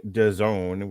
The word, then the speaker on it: DAZN: All right, so there was another fight here on DAZN, which rhymes with calzone.